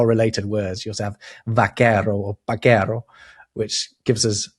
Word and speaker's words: vaquero: just learned, is that V and B basically pronounced exactly the same in Spanish.